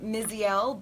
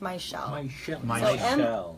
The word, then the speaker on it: Mizziel: It's spelled kind of, it looks like Mizziel, but it's pronounced Mizziel.